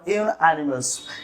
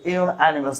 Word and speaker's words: unanimous: The committee is or are unanimous. Correct pronunciation is unanimous, not unanimous.